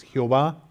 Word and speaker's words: Jehová: a Moisés y es el nombre que nosotros pronunciamos a veces Jehová otros lo pronuncian ya güey y este y entonces